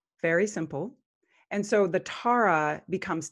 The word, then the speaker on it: Tare: And so the Tara becomes Tare in the mantra. Om Tare Tutara Tuture Soha. I've added an extra syllable in there that actually captures energy and sort of amplifies it.